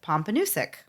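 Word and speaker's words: Pompanoosuc: sense to me so the way you say that is pompus okay do why didn't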